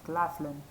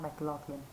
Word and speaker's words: Claflin: i just realized that i pronounced this guy's name wrong his his name is samuel george claflin and for some reason i said his name was sam mclaughlin i have no idea